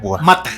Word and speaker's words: Mata: Mata, ajá, como Marta sin la R, güey.